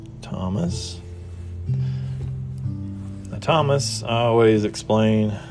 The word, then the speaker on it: Thomas: Now, Thomas, I always explain, you can do it phonetically, which would just be a T. If you wanted to do it orthographically, you could add the H in, and it would look like this. There's your S like this with an A on top. That's with the H, which you know it's silent.